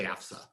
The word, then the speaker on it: FAFSA: for federal student aid or fafsa you say it like you're from wisconsin the fafsa um you go to